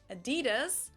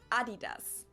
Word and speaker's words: Adidas: were referring to because they usually pronounce it Adidas, and in Germany we say Adidas.